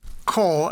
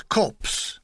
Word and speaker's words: corps: He pronounced the word corps as corpse.